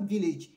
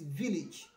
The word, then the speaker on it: village: the bonuses are like it is not village it is village i shall travel to